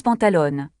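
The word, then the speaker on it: pantalones: On prononce pantalone une erreur fréquente chez les francophones est d'oublier le s à la fin.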